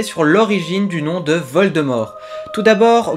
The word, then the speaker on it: Voldemort: l'origine du nom de vol de mort tout d'abord beaucoup d'anglophones prononcent vol de morte alors que nous les francophones nous le prononçons avec le T muet et ben figurez-vous que nous avons raison comme tu le sais